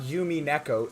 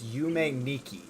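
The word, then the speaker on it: Yume Nikki: It is not Yumi Neko. It is Yume Niki.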